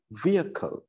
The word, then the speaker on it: vehicle: ගොඩක් වෙලාවට කියනවා vehicle කියලා. Vehicle කියලා. හරි උච්චාරණය vehicle, vehicle. Sounds දෙකයි තියෙන්නේ. පළවෙනි sound එක via, via, via. දෙවෙනි sound එක kal.